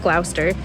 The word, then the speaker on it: Gloucester: it looks like it says Glouchester but it's pronounced glower to visit the cathedral which part of Harry